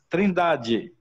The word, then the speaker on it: Trindade: Pero solamente la pronuncia es Trindade.